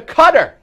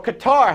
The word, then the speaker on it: Qatar: and his family they've got their moving to cutter or Qatar however you want to pronounce it I say good riddens Adam you